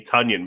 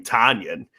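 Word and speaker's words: Tonyan: And Joe Buck finally admitted this past broadcast, and I love this, that he's been butchering the name Tunyon by calling him Tanyan.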